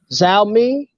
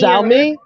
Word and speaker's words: Xiaomi: And Xiaomi has maybe releasing the stick, like I said before, and it might be valued at $80.